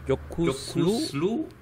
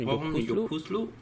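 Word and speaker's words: Yokuşlu: Jokuslu. Und ich habe es richtig ausgesprochen. Jokuslu.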